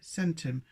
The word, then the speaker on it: centum: the Romans, for instance, said centum with a hard C.